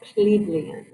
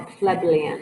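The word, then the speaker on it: plebeian: the truth of a plebelian um or plebillion i've heard them pronounced both ways um so a patrician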